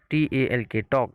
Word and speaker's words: talk: talk, talk. Here l is silent.